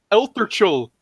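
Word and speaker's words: Eltorchul: It's Eltherchul.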